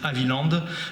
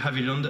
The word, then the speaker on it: Haviland: Moi, je fais partie de ceux qui disent Aviland parce que Charles et Théodore américain du moins avec la double nationalité parlant anglais à la maison devait probablement le prononcer Havyland avec le D à la fin.